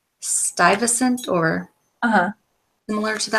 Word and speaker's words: Stuyvesant: name right but it's I always feel like it's juvie essent and that's not how you say it in Dutch it's Stuyvesant or uh uh Miller